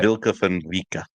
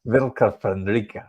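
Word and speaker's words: Vlka Fenryka: Yeah, the Vilka Fenrica. Fenrica, okay. Yeah. Don't really roll your R's. Yeah. Vilka Fenrica, okay.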